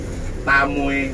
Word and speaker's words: Tamue: Ruang Tamue ya. Ruang Tamue Cafe. Ruang tamu kafe bacanya.